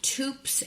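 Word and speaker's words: Toups: I use the brand Tups and Co. Rhymes with Soups. T O U P S and Co.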